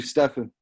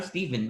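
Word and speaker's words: Stephen: homie what's up bro it's actually stefan i'm steven my name is spelled s-t-e-p-h-e sam sam well there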